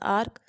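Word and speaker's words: arc: word है that is आर्क ए आर सी आर्क और जो इसके साथ का पिर है दैट इज ए आर के उसको भी इसी तरह प्रोनाउंस करते हैं लेकिन इनकी स्पेलिंग में डिफरेंस है जो पहले वाला आर्क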